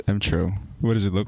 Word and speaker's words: emTr0: making this really complicated it's a read it phonetically mo mmm true oh is it just true yeah what does it look no no it's M true what does it look